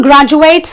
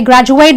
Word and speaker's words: graduate: I say graduate because now graduate is a verb. So it is something I'm going to do. So therefore the ate in this word becomes an 8. But if I say I'm a science graduate, it becomes a noun, doesn't it?